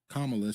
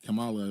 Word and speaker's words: Kamala: say her name correctly instead of saying Kamala she was saying Camala or whatever he saying that's disrespectful